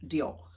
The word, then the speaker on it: diolch: Now I know the word for what I thought was thank you, diolch, D-I-O-L-C-H, I think it's spelt, but I believe that's a bit of a like thanks, you know, rather than thank you polite.